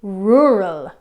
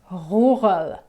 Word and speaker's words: rural: Now, when French people pronounce R, it's in the back of the throat. It's like a sound. For example, in the word in English, when we pronounce it, we say rural, but the French say rural.